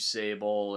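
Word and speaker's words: Sabol: I thought the tribute they paid to Steve Sable and all those other Legends did I say it right Steve Sable yes yeah and all those other uh you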